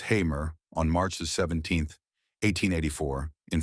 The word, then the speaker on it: Hamer: Born Francis Augustus Hamer, pronounced Hamer, on March 17, 1884, in Fairview, Texas, he was the son of Franklin Augustus and Lou Emma Francis Hamer.